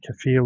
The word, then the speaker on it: Kaffir: It's a Kaffir lime, that's how you say it.